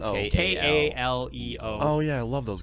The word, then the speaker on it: Kaleo: leo okay oh oh is that how it's pronounced like is it not k-k-e-l no it's okay k-a-l-e-o oh yeah i love those guys i would